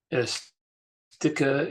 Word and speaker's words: ersticke: Ersticke im Weltraum. Remember, whenever there's an s before a t, it's a sch-sound. So ersticke.